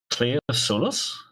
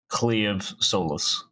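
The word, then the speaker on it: Claimh Solais: It's because, well, as daft as it is, MH is more of a V in Gaelic. Cleave Solus or Solas.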